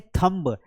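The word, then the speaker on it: thumb: आपने अंगूठा देखा है, इसे हम बोलते हैं थंब। अरे थंब नहीं बोलते हैं घासीराम, इसे बोलते हैं थंब। बी साइलेंट है तो इसे क्या बोलेंगे? थंब बोलेंगे। यहां पर देखो, है ना,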